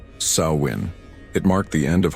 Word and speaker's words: Samhain: The Kelts called this transitional period Samhine, pronounced sawin.